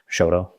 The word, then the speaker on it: Choteau: Yeah, we don't we don't really print we don't really pronounce the T very hard. We just say Choteau. Almost like it's a D, but Choteau.